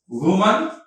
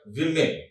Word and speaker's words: women: Woman, you call it women. What is this? Women, not the woman. Okay, this is to be pronounced as women.